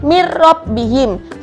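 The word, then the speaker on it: مِنْ رَبِّهِمْ: yang tulisannya itu loh Itu kan Min rabbihim tapi kita dibacanya adalah langsung dimasukkan Kerok tanpa didengungkan jadi mirrobbihim sama kayak milladunka itu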